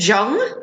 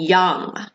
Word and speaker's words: young: So I heard the South American Spanish J pronunciation, so I heard Ju and Jung instead of you and young. So you need to work on that ya sound. So you and young.